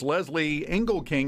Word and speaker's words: Lezli Engelking: We have with us Lezli Engelking. Am I pronouncing that right? Perfectly.